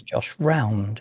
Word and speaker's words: Josh Round: It is, the pronunciation is Josh Round, isn't it? That's right, yeah.